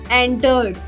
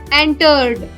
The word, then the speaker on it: entered: Compare, however, visit or enter, where the spoken stress is on the first syllable. Visit, visiting, not visiting. Enter, entered, not entered.